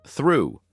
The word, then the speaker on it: through: it sounds for example in the word through the GH is silent in Island the S